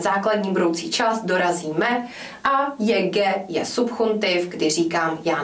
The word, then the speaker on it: llegue: Můžete si všimnout tohoto vloženého účka, které je typické, velmi často se používá kvůli výslovnosti právě kvůli tomuto španělskému g. Takže čteme pouze jako llegue.